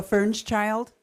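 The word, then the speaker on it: Firnschild: If you would pronounce that correctly and spell it, I'd appreciate it. My name is Helga Fernschild.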